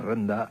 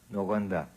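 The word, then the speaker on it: Rouyn: Vous le prononcez comment, Rouen-Noranda? Rwanda. Pardon? Comment vous le dites? J'y arrive pas. Ah oui, Rouen. Rwanda.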